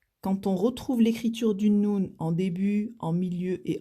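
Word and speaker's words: نون: Et donc, elle se prononce noun. C'est la lettre noun qui correspond au N en français.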